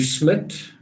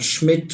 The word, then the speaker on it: Smit: was an intruder lou smith a lot of people spell it like schmidt or something it's smit um he was smart but it was 1996.